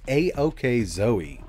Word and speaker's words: AOKZOE: from a company called aok zoe i know these handheld names are getting a little out of hand but in english this is pronounced a-ok zoe and the word a-ok